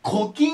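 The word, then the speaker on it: 古今: 古いに今でコキ若集って言います古いに今でコキって読むんですけどコキ若臭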